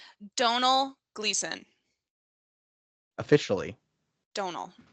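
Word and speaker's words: Domhnall: you pronounce his name Donal gleon officially Donal silent M Don yeah silent M and silent h you always forget about the H yeah it's yeah one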